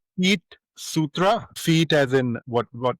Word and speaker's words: Feetsutra: It's called Fit Sutra. Feet as in what? What? Like feet as in feet.